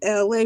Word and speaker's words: Elay: I'm LA, pronounced like LA like the city.